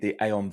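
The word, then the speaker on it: Aion: I also had to ask about whether it was Aeon or Ion, but it is Aeon.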